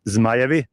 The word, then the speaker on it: Zmajevi: Louis Dragons for Kids, which I love because how do you say it in your language? Dragons. Yeah, dragons. No. It's not that true. What's the real? I mean, it relates actually to the national team. It's Zmajevi.